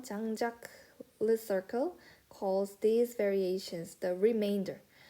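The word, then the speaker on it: Jean-Jacques Lecercle: 그 다음 장자크라고 읽으면 돼요. 장자크 르서클 calls these variations the remainder.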